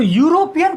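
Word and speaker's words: European: लेकिन यदि हम इसको प्रोनाउंस करते हैं तो होता है यूरोपियन। अगर इसको कोई आदमी प्रोनाउंस करे तो हिंदी में इसको लिखेंगे यूरोपियन। तो देखने से तो ई से स्टार्ट होता है लेकिन प्रोनाउंसिएशन क्या रहा है? यूरोपियन, यू मतलब वाई से।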